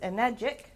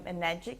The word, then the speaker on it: Enagic: Now, it's very easy to remember the name Enagic because it rhymes with... Thank you. Not tragic, that one person once said. The right answer is definitely magic, and some people call this magic water.